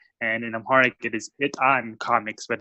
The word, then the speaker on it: Etan: an American word and in Amharic it is hit on comics but it's tough for people to pronounce so a lot of people say eat on tommix ETA and comics and I found it